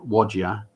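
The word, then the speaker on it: Whadya: it um including uh wodya um which is spelt w-h-a-d-y-a the most beautiful song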